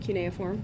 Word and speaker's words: cuneiform: And then continuing towards the big toe, we have our medial, intermediate, and lateral cuneiform. Okay, so that's how you pronounce that word, cuneiform.